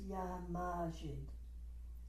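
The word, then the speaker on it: Ya Majid: So that word is Yamajid. The accent is on the A, Majid. If you like to think of the word majesty, that's helpful.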